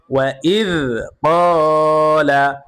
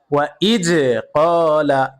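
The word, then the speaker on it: وَإِذْ قَالَ: ইদ ক্বালা ক ক ওয়া ইজ ক্বালা এইভাবে কিন্তু শক্ত করে পড়া যাবে না দাল সর্বদাই নরম ভাবে উচ্চারণ হবে ওয়া ইজ ক্বালা হবে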